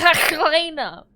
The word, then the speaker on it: Helena: It's pronounced Helena. So it's pronounced like a Dutch person.